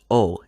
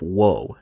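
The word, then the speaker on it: を: notice that i pronounced it as o instead of whoa and that when i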